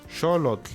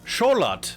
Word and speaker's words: Xolotl: Little did you know that this temple, Xolotl," learn how to pronounce Xolotl, and he gives me a Wikipedia. Okay, let's go learn. Xolotl. Xolotl.